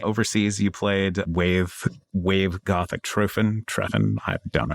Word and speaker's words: Treffen: You played Wave Gothic Treffen. I don't know how to say it. Good enough. It's Treffen.